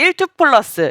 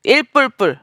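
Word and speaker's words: 1++: 대신 읽어 드리는 겁니다 사실 일투 플러스 1+라고 읽어야 되거든요 근데 특상급 1불불 뭐 이렇게 읽는 분들이 계세요 그것을 정확하게 제가 읽어드리는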